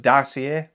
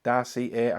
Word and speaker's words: Dossier: Okay, so first of all, I'm not sure if I'm saying it exactly right with my uh strange northern accent, but Darcier, Darcier, I think is how you say it, but it's spelled D O S S I E R.